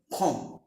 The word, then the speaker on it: comb: তো be silent যখন আমরা ব্যবহার করব, উদাহরণস্বরূপ ফর এক্সাম্পল COMB, এম এর পরে বি থাকলে বি উজ্জ থাকে, যেমন খম, COMB, খম্ব। নো, খম, ইয়েস, খম অর্থ চিরুনি, যেটা দিয়ে আপনারা মাথা আঁচড়ান।